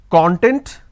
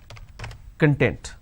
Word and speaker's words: content: I can either pronounce this as content or I can pronounce this as content. So content, content. We don't really understand what to be used where. That is where we make a mistake.